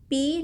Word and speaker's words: pi: Ini dibaca P. Jadi simbol ini kita baca sebagai P. Bacanya Pi. Apa itu Pi?